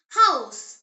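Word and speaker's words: Haus: H pronounced as ha. In German ha is always breathed out. It is never silent like in some English words. The example word is house.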